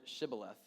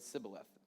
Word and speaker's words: Shibboleth: So they told him to pronounce the word Shibboleth, but Jephthah could not, and instead said Sibboleth.